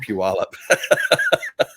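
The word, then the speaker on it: Puyallup: oh let's pull you all up and that's pronounced pewalp everybody looks like someone here in utah everybody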